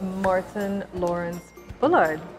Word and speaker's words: Martyn Lawrence Bullard: so we are here today with martyn lawrence-bullard did I say it correctly you did good